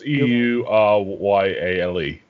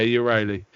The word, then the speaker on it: Euryale: I think it's pronounced Euryale. Yeah, Euryale. Yeah.